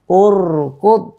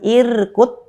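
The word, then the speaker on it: اُرْكُضْ: Jadi kita membacanya apa? Urkud. Ya, urkud. Bukan irkut, bukan arkut. Ya, tapi dhammah. Kita baca dhammah karena mengikuti pada harokat ketiga dari kata kerja ini.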